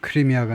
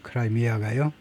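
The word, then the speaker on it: Crimea: 그다음에 크라이미아는 영어로는 크리미아가 아니고 크라미아라고 읽는데 by 2014년에 이미 러시아 의해서 합병이 돼 버린 겁니다. 그러니까 러시아 땅이 돼 버린 거예요. 크라이미아가요.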